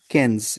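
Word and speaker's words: quinze: Then you have कैंस, इसे हम pronounce करते हैं कैंस।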